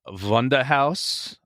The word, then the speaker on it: Wunderhorse: Next band is a band called Wunderhaus. So it's spelled Wonder Horse, WUNDERHORSE.